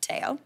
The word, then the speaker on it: Teo: Teo himself, pronounced Teo, nailed it, will not nap, and he and I will watch Mary Berg.